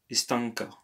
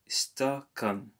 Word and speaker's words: стакан: Istanka. Stakan.